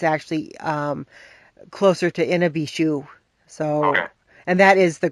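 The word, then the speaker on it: Mishipeshu: one is in a B shoe some people pronounce a Misha be shoe but it's it's actually closer to in a be shoe so and that is the great underwater panther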